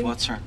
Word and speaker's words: Whatser: and so it's whater is that did I pronounce the name correctly it's whater what is just tell me more about that